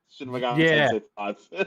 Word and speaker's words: Shin Megami Tensei V: Shin Megami Tensei 5.